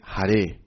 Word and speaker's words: Hare: If we talk about pronunciation, it's not the same. Hari, Hari, and then Hare Krishna, Hare Krishna, and then Hari, Hari, Bol. It's different.